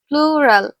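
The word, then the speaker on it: plural: প্লুরাল, এটার কি প্রোনাউন্সিয়েশনে তোমাদের বারবার ভুল হয়, প্রচুর ভুল হয় তোমাদের। এটা কিন্তু প্লুরাল, PLU, প্লু, RAL, রাল, প্লুরাল number.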